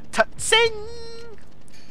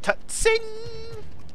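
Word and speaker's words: Tseng: By the way you pronounce this guy's name is Tutsing! No, it's probably just Sing or Sang, however you want to pronounce it. The T is probably silent.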